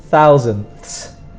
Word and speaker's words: thousandths: So it is difficult to say the th sound. Tenths, so you have to put your tongue behind your teeth and go th. So it's tenths, hundredths, thousandths.